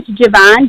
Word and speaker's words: Gavanne: thank you so much yeah my name is Javon so it's spelled g a v as in Victor a